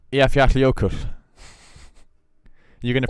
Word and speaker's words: Eyjafjallajökull: So the double L is like a cl. It's like an HL, I guess, or like halfway between an HL and a.